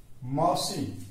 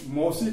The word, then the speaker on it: मासी: और मासी हम लोग उच्चारण में हम लोग मौसी कहते हैं, लेकिन इसका जो शुद्ध होता है, जो उच्चारण होता है, तो मासी होता है।